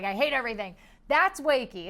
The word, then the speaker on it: Wakey: uh this is called wakey it's wake with a a long e so wakey is this